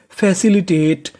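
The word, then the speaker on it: facilitate: टी ए टी ई इसे पढ़ेंगे टेट। क्योंकि इ का उच्चारण करना नहीं तो मीनिंग बनी फैसिलिटेट।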